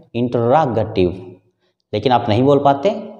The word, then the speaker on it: interrogative: यहां स्ट्रेस है रा के ऊपर, इंटररोगेटिव। रा को जोर से बोलना होता है, और जो प्राइमरी स्ट्रेस